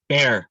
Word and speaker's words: Bear: Bear, like the animal.